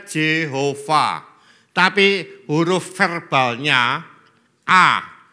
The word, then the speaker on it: Jehova: ya ngomong j h V h itu memang bacanya Jehova tapi huruf verbalnya a j itu e-nya gak